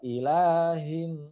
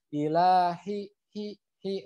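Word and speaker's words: إليهم: adalah huruf H ya Jadi harus jelas ilaihim jangan gila hihihi Nggak ada powernya ini jadinya Ilahi itu ya tetap harus dibacanya ilaihim gitu ya kemudian huruf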